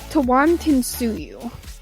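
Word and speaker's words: Tawantinsuyu: about a moment ago the name for the empire is actually oh it's a lot of syllables okay um okay so it's tewan tinsuyu now what that actually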